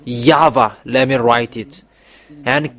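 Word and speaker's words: Yahweh: have seen the source the real name the true name is Yava let me write it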